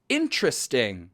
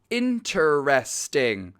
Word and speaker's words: interesting: ต้อง คือ อัน นี้ จะ คล้าย กับ การ ออก เสียง คำ ว่า interesting การ ออก เสียง ดั้ง เดิม คือ 4 พยางค์ interesting แต่ 90% อเมริกา จะ อ่าน